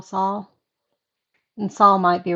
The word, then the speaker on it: Saul: i think it's pronounced sal saul better call saul and saul might be right because i think it's compared to paul a lot although i think